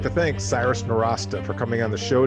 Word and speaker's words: Nowrasteh: Intro for Cyrus Nowrasteh.